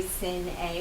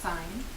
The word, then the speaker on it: sine: but we don't say sin A, we do pronounce it with the sine, okay, so it's like a long I.